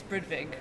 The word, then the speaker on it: Brudvig: I have with me Ingrid Brudvig. Is that the right pronunciation? Yes, Brudvig.